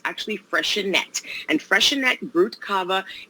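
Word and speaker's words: Freixenet: that i'm showing you today is uh is freshenette is the way it's pronounced i used to say freezing but it's actually fresher net and freshen that brute cava is a dry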